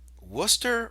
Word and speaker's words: Worcester: tribe in Florida was one of them okay Worcester versus Georgia and I know that looks like Worchester but it's actually pronounced Worcester why is it pronounced Worcester I